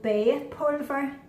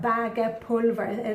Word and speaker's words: bagepulver: It's called bagepulver or bagepulver. That's how it's spelt, but that's not how it's pronounced.